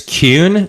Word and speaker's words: Kuhn: It's Kuhn. So okay. Like a Q? I just tell people like a Q plus an N. Okay. Kuhn. Okay. Kuhn there.